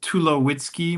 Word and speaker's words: Tulowitzky: Well, uh my name is Tulowitzky, my my surname. Sometimes people mispronounce it. And so I have a little pneummonic I like to share that if you take away my wits, I'd be too low-key.